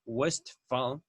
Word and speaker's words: Westphal: respecto a este apellido westphal estoy pronunciando la ph como efe west favor viene asociada